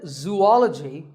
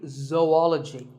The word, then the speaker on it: zoology: do you say it if you've said zoology it's actually wrong that is a very common mispronunciation this is actually zoology though and ecology zoology number 42 is develop